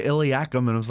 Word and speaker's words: Eliakim: men don't see it do you pronounce it eliakim or eliakum i never pronounce it e cheryl yeah i don't blame you but uh which way would you pronounce it iliac well i like eliakim okay but then i've heard other people say iliacum and i was like